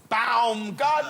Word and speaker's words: Baumgartner: so that he shouted it's pronounced bound God no he said I'm